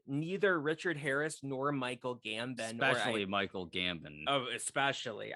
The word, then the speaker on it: Gambon: And neither Richard Harris nor Michael Gambon, Michael Gambon. Oh, especially. I used to have a film teacher that used to pronounce it Michael Gambone, and he'd be like,